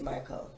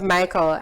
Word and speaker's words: Miqueal: today well who is michael well the first thing i should say is i know the pronunciation of my name reminds everyone of the boy version of michael and no my parents